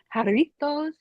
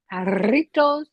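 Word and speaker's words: Jarritos: it's good it's like do y'all have yitos haritos haritos you haveit how spell it J oh what squirt or haritos the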